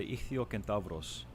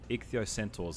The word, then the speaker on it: ichthyocentaurs: The card itself is based off the Ichthyocentavros, or Ichthyocentaurs as it's pronounced in English.